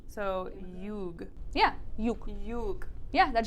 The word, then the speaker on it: юг: So, юг.